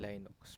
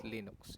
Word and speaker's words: Linux: Linux, dati ang tawag ko dyan Linux. Pero, we provided the pronunciation, which is Linux.